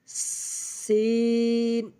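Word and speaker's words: سين: লাগাইব যা এর সিন সিন জিহ্বার আগা সামনের নিচে দুই দাঁতের পেটও আগার সঙ্গে লাগাইয়া সি আগে হালকা করে বাতাস বের করে নিব তারপর উচ্চারণ করব সিন এরপর আমরাশিনশিন যেভাবে উচ্চারণ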